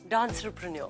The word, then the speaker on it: Dancerpreneur: Dancepreneur, is that the right way to say it, or has it got another pronunciation? Dancerpreneur. Oh. I just made it up.